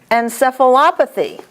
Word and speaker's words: encephalopathy: Cardiomyopathy, hemoglobinopathy, radiculopathy, nephropathy, encephalopathy. See, wouldn't it be kind of easier to say encephalopathy? But you can't. It's opathy, op.